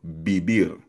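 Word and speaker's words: vivir: Beer for example biber. So again, yung V, letter V ay B sound sa Spanish.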